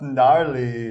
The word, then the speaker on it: gnarly: Oh, that's gnarly. I know. Do people even say gnarly anymore? I'm just in such a good diety mood now. Rhymes with saying Harley.